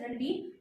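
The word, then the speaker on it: Ranvier: of node of रनवीर यू can learn you can call it A pronounce it एज रनवीर सो इट is called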